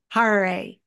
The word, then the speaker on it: Harary: Today I'm talking to Dan Harary. It rhymes with Ferrari.